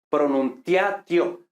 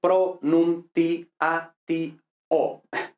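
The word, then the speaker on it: pronuntiatio: Esto leyéndolo así españolizado diríamos pronunciatio. Pronunciatio, cuatro sílabas, ¿no? El latín es pronunti o seis sílabas. ¿Vale? ¿Por qué? Porque ya y o es ae o ee au, ¿no? Entonces no son diptongos, entonces son iatos, dos sílabas separadas.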